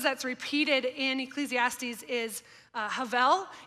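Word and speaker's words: הֶבֶל: One of the words that's repeated in Ecclesiastes is havel. It looks like Habel, H-E-B-E-L. It's a Hebrew word, but it's actually pronounced havel. I'm probably not saying exactly right, but it sounds like a V sound.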